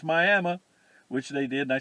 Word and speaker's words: Miami: Miami, Oklahoma, where they pronounce it Miami, but spell it Miami.